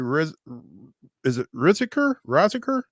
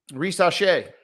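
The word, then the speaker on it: Risacher: Zachary Riziker? Risache. Oh, see, he is French after all.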